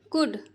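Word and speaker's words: could: raw where where he कुड क उ ज कुड य जो है साइलेंट रहता है एल को नहीं पढ़ते हैं और ये एक फ्रेजल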